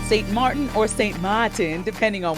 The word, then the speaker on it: Sint Maarten: Okay, the Dutch spelling is Sint Maarten. Sint Maarten. And the French one is Sint Maarten. But we locals say Sweet Sint Maarten land.